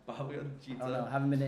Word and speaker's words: Bhagavad Gita: I mean, your conclusions for both the how do you pronounce it? Bhagavad Gita. Bhagavad Gita.